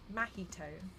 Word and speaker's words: Mahito: watching the Jutsu kaisen I think it's mahito but I keep pronouncing it in an awful way that sounds like mojito um and so I